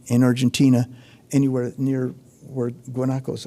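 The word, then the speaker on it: guanaco: You don't want to drive at night in Argentina anywhere near where Guanakos are or huakos probably would be the correct pronunciation, but uh they're big and they have dark faces.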